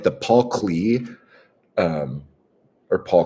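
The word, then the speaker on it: Klee: And like the Paul Cle um or Paul Clay, however you pronounce his name. I think it I think it's pronounced clay, but I always see it as clay.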